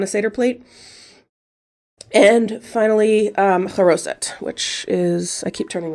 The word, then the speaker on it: charoset: And finally, charoset, which is, I keep turning this around, I'm sorry. Charoset, that one, charoset, or it says charoses here, but that's just another pronunciation.